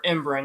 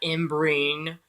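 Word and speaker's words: Ymbryne: In Tales of the Peculiar, it actually states that the very first Imbrin, which is actually the proper pronunciation for Imbrin, not Imbrine.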